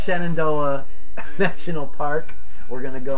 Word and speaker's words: Shenandoah: a thing yeah and then we're going to shannon day did i say that right see i'm tired so uh yeah so it's shenandoah national park we're gonna go on skyline ride